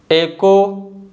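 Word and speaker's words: echo: तो इन सभी वर्ड्स में जो लेटर एच है ना, यह साइलेंट है।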